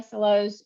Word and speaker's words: SLO: big bad SLO and I won't say big bad slow I'll say big bad SLO because we're having a debate about pronunciation right now um I'll start with